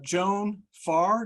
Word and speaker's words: Joan Farr: Senate, Kansas, representing Kansas, Joan Farr. Did I pronounce that correctly, Joan?